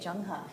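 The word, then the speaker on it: Zheng He: China lastly we have Jung doesn't look like it but that's how you say it junga junga was a commander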